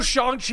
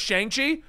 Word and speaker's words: Shang-Chi: Sal, did you know Shang-Chi is in this movie and it's not pronounced Shang-Chi? Yes, I've been informed by the culture at large. I did not know it was how do you say it the right way? It's apparently Shang-Chi.